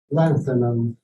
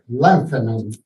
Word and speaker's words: lanthanum: For the element LA, lanthanum, it's compulsory to push the accent on the first A, and one should not forget that the T is a theta, which is pronounced th with a th in English.